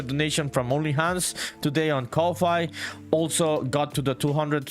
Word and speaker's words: Ko-fi: I think it's Ko-Fi, that pronunciation, but I think it comes from the concept of buying a coffee to someone.